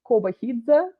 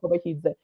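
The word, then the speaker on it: Kobakhidze: It's Kobahidze. Whenever you have that KH, it's like a harsh H sound. Yeah, Kobahidze.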